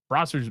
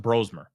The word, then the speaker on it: Brosmer: If that if that's that way for the next two games, Bromer's making or sorry, it's pronounced Brosmer.